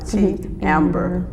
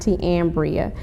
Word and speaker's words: Te'Ambera: But that Te'Ambera, Ty had told me that's how it's pronounced, Te'Ambera. But you got the A at the end, At though. the end. Yeah. My mother says it's pronounced Te'Ambria, but a lot of times I just Te'Ambera, yeah. So.